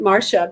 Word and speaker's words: Marcia: it up more often well I pronounce it Marsha because that's the way my mother pronounced it but trust me I've